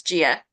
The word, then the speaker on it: Gia: let me know yeah it's just pronounce Gia just like I would think so thank you thank